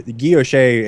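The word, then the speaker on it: guilloché: The guilloche, and thank you for correcting me on the pronunciation.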